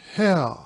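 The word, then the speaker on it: Haigha: His name is Hare." He pronounced it so as to rhyme with mayor.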